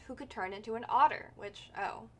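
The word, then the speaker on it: Otr: Mom once told me a story about Oter. He was a dwarf who could turn into an otter, which, Oter, otter. I guess otter is how you pronounce it.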